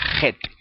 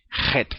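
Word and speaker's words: ח: Y en hebreo sería, pero no es así en hebreo se pronuncia un poco más fuerte, J. Como pronuncian muchos españoles la J, J, la J, la J, J. En hebreo es la Het, Het.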